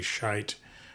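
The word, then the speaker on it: Schiit: is by or shite I think the correct pronunciate pronunciation is actually shite from Germany but uh Americans will call it it's got two eyes in it s-c-h-i-i-t um this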